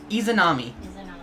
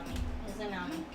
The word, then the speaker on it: Izanami: Izanami. Izanami. Like edamame.